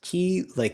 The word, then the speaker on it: Kilehka: It's pronounced Klea.